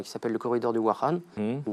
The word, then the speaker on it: Wakhan: L'Afghanistan, à l'ouest, possède un petit bras qui s'appelle le corridor du Wakhan, ou Wakhan, selon la prononciation, et a une frontière d'environ 75 km avec la Chine, qui débouche directement sur la province du Xinjiang.